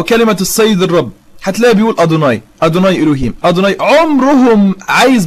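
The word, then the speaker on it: יהוה: رقم اربعه ودي الاخطر ان هي ما بتتنطقش يهوى حي الله عم زيرو ما بتتنطقش يهوى دي بتتنطق اصلا عند اليهود ادوناي لما اليهود بيشوفوا كلمه يهوى مكتوبه في المخطوطات اللي هي ي ه و ه بيقراوها ادوناي ما بيقراوهاش يهو وهذا الكلام هجيب طبعا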